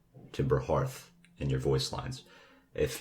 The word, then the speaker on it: Timber Hearth: i also included here that timber hearth is pronounced hearth and this is confirmed by the game's creators um so definitely say timber hearth and your voice lines if you've already said timber hearth um that's all right you can leave it